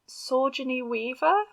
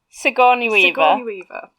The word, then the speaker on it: Sigourney Weaver: love her she's um is it sorgini weaver sigourney weaver yeah sir as i it's